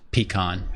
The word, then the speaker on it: pecan: It is pronounced pecan.